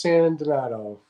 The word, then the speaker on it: Sandonato: It's pronounced San Donato, just like it's spelled.